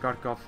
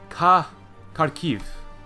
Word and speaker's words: Kharkiv: First Galician, first Kharkov. Oh, no, it's Kharkiv.